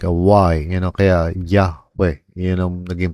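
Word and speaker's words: Yahweh: which is dati pronounced Jehovah pero eventually you know Hebrew scholars understood na walang J na sa Hebrew alphabet but rather it's it's really more like a yun kaya Yahwe yun ang naging pronunciation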